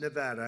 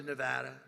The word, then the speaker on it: Nevada: heard of it and don't ever mispronounce the name you're not allowed to do that you you mispronounce the name you got a problem you ever see somebody when they say it's Nevada Nevada no they're they're in deep they're in deep trouble I I want to